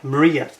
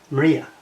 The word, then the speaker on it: Mriya: that's not correct it should be a y maria maria is the way they pronounce it and it should be a y